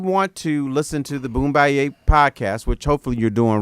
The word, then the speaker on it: Boombayey: white then Oh No okay we're doing it phonetically for everyone wow this is baloney boom bye-yay is a take-off of the word boom bye-yay